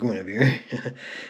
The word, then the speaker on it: Guinevere: I'm pretty positive how that's pronounced. It's Guinevere. It doesn't look like it when the spelling is really weird, but yes.